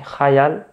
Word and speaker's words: khayal: Si on prononçait à l'arabe, ça serait khayal. Khayal, oui.